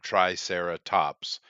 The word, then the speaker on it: triceratops: Um, to help you out with the pronunciation of tricerah tops. Try means three. Sarah is from keratin meaning, you know, like a horn.